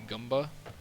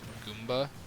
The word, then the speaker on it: Goomba: how you say it I don't know why I say goba I know it's supposed to be said Goomba I can't even say it properly but he able to